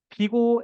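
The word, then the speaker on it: Big O: 이거를 비고 n 제곱이라고 읽습니다.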